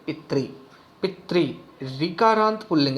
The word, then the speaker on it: पितृ: हुई है, तो इसको, इस मात्रा को री की तरह बोलते हैं, रे में छोटी की तरह इसका उच्चारण होगा। पितृ कैसे बोलेंगे, सही कैसे बोलेंगे, पितृ।